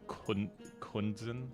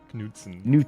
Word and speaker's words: Knudsen: I got the N and the U's mixed up, because I've been calling you Kunzen instead of Knudsen. Knudsen.